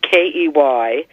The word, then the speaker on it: quay: that evolved into key ke y then later the spelling change to French spelling qu a why kill you AI then qu a why but it was still pronounced key so it's one of